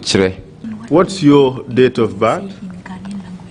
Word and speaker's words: Kyere: K Y E R E Kyereh We pronounce it I pronounce it Kyereh.